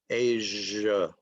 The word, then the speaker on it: Asia: Okay, the S in Asia is zh, and it is voiced. Asia.